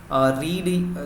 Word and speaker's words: read: Form होता है तो उसका प्रोनाउंसिएशन चेंज होता है, उसको रेड बोलते हैं। आप भी अभी मैंने जो रिपीट किया उसमें आप प्रोनाउंसिएशन देख सकते हैं, सुन सकते हैं कि आप आई रीड नहीं बोला है मैंने, आई रेड बोला है।